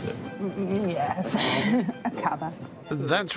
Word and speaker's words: Aqaba: Is that how you would pronounce it? Yes, Akaba.